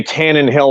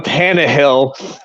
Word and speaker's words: Tannehill: pronouncing stuff you know he'll say Tannen Hill all day long even though there isn't an n in front of the hill part so but but I'll go Tannehill and obviously Ritter's already